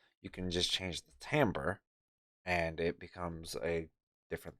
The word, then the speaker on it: timbre: Well, first I have this timbre knob, and yes, it's pronounced timbre, not timber.